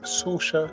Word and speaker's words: Sorcha: the lady we have with us today is SAA Sylvester Martin is that correct yes sir thank